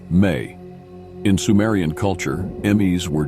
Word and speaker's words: me: Another potent symbol related to Enki is the Ms, pronounced May.